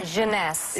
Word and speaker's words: Jeunesse: called instantly eight ageless what's the company honey pronounce the Jeunesse Jeunesse its various makers and it's less than